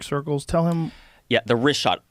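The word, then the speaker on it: Richat: Yeah, the Rishot.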